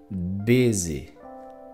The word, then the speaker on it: busy: En esta palabra el acento va en una sílaba acentuada, entonces es más fuerte, busy. Es más largo y tiene la caída, la subida y la caída, busy, busy.